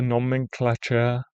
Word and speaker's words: nomenclature: It rhymes with nature, not halfway with air.